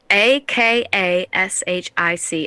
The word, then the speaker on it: akashic: remember it producers take note how do you spell it akash a a k a s h i c akashic records it's where you hire an akashic